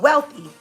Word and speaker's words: Whealthy: I live in Atlanta, Metro Atlanta, and it's called Wealthy, and it's spelled WHEALTHY.